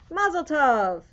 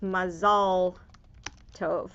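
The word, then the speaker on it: מזל טוב: something exciting already happened mazeltov in hebrew it's mazal tov although you don't hear many americans say that that explains more okay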